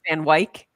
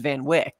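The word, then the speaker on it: Van Wyck: watching and they said van white which is the correct way because that is the way the family the vanw uh family pronounce it but we all know it as Van Wick right so it's just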